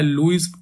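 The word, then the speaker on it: Lewis: Structure, देखो यहाँ पे इसका प्रोनाउंसिएशन लुईस है, बट क्योंकि वी आर इंडियन तो जैसा हमें दिखता है वैसे ही पढ़ते हैं, ठीक है। तो मेरी भी आदत हो गई लेविस बोलने की इसको।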